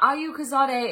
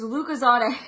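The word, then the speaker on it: Lucozade: to pronounce it oh it's not Ayu kazade it's lucazade apparently it's a type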